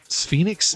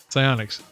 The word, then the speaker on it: Psyonix: So the game developers on Phoenix, is that how you say it? Psyonix. I'm like Phoenix.